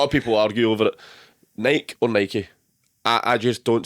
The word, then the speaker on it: Nike: rhymes with spiky.